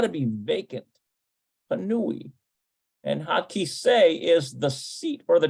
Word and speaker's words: הכיסא: No, it's Hakisa. Hakisa. Nope, that's not how you pronounce it. All right. I'll put it in manually. I bet you it's kisei. הכיסא פנוי. Yeah, hakisei panui.